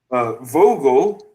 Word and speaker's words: Vogel: Vogel. Vogel. Yeah. Yes. Yeah. Sorry, I know you pronounce the V with an F.